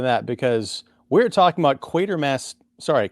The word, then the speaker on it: Quatermass: because we're talking about quater Mass sorry quater Miss I gotta pronounce it the the way that that Mr Brian Dunley pronounces it or at least the people around him quater Miss to from